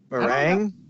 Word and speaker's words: meringue: Marin new Maron goo how do you say that ma RI ng you e meringue oh ma please cut